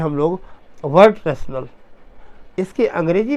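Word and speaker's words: Wertrational: और दूसरा जो है इसको पढ़ते हैं हम लोग वर्ड रैशनल।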